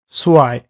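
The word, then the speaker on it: zwei: এখন এইটার উচ্চারণটা হয় হলো আই এর মতো, বাংলায় হলো আই।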